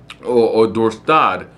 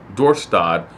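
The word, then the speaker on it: Dorestad: the port city of door stood or door staad better better pronunciation for it door start was attacked by a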